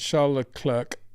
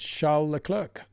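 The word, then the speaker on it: Charles Leclerc: Out of interest, why do you pronounce shall clerk with a sh as in sh and not shall as in king Charles?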